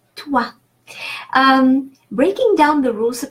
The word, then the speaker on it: toi: And toi, O-I is pronounced wa, is a rule of pronunciation. O-I, wa, so toi.